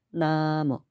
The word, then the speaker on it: 나모: 아미타파 그분은 그렇게 하시더라고요 그쪽 사람들은 우리처럼 나무라고 발음을 잘 안 해요 나무 불도 타바 이렇게 발음합니다 아무튼 톤이 일정해요 나모 아미타바 정확히네 번